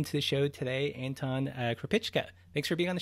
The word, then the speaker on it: Krupicka: so let's welcome to the show today anton herpich ken thanks for being on the show thanks for